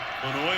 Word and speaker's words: Flanoy: Flanoy, and that's the way he pronounces it.